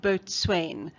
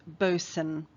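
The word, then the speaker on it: boatswain: note the pronunciation here the word might look like boat swain but is pronounced boson the boson's job is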